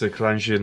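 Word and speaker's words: Kalarjian: Kalangian, that's how you pronounce it.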